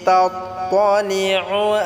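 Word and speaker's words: تطلع: এখানে বড় কাফটাকে আমরা সহিভাবে উচ্চারণ করব। নারুল্লাহিল মুকাদাহ আল্লাতী তাত্তালিউ আলাল আফইদাহ।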